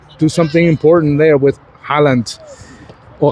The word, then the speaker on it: Haaland: something important there with Haaland, or Haaland, as they pronounce it in Norwegian.